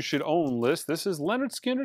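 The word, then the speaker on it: Lynyrd Skynyrd: From my top 100 imprint analog records you should own list, this is Leonard Skinner. It's pronounced Leonard Skinner.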